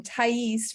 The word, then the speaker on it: Tyese: I'm not I'm trying no problem tyese rhymes with cheese so tell me if